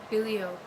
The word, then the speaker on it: Bilio: So Bilio is the correct way to say his name.